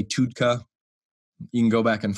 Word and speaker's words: TUDCA: the last recommendation I would say is TUDCA, T-U-D-C-A. So it's an acronym, all in capitalized letters. Technically, it's supposed to be TUDCA. Some people say TUDCA.